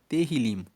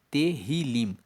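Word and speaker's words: Tehilim: O livro de Salmos no hebraico, ele se chama Terilim. Se escreve T E H I L I M. Terrilim.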